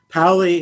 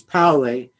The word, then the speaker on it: Pauli: left is named wolfgang powley paulie is the pronunciation of his name in german you could say paulie but the correct pronunciation is paulie and he was born